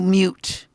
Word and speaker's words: mute: still have to do mute. This one is tune. What is it? Tune, right? Rhymes with dune. And you still have to do mute, which rhymes with cute.